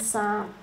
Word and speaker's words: psalm: We've got the OR sound as in nautical, and then we've got the silent P as in psychic and psalm.